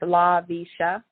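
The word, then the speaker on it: Laveesha: It's, I'll spell it for you. It's L-A-V as in Victor, E-E-S-H-A. It's LaVisha.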